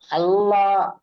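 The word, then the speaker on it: الله: হল হারাফকা তাড়াতাড়ি পড়তে হয় টান দেওয়া নিষেধ আল্লাহ শব্দের ডানদিকে পেশ এসেছে তাই আল্লাহ নামকে মুসাদ্দাদ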